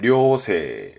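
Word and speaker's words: 良性: 발음은 료세, 료세, 양, 좋은, 성질, 그러니까 천성이 좋다는 뜻입니다.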